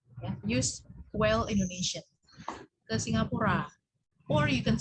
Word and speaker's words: Singapura: Singapura, kebanyakan orang ngomongnya Singapore. Di Singapura, kamu kemana liburan? Singapura. Nah, it's actually wrong ya. If you say it in Indonesian, use Indonesian. Ya. Use well Indonesian. Ke Singapura.